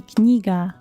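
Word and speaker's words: книга: Kniga. Kniga. That's hard to pronounce it, but k, n, kniga.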